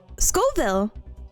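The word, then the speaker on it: Scoville: IS IT NOT SCORVILLE? SC What? Scoreville. SC There's no R. SCville.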